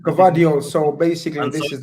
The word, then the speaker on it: Guardiola: Guardiola.